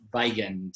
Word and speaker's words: Weigand: So my last name is pronounced Weigand, but it's misleading because it's spelled with a W, and I also don't look German at all.